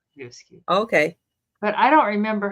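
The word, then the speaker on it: æbleskiver: It's Avaskew. That's how we always say Avaskew.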